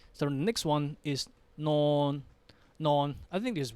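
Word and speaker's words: นอน: Now, again, nonu as the initial consonant and the final consonant both give you n sound. N. We have the same vowel, sala o, not sala o sound. Then non. Non.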